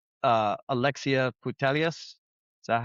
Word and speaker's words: Putellas: a little bit older, and you're like Alexia Putellas. Is that how you pronounce she's her 32. name? Yep. Yeah, Putellas, 32.